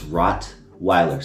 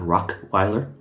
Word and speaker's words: Rottweiler: I'm like, it's Rottweiler. Say it with me, black people. Rottweiler. Rottweiler, not Rockeiler.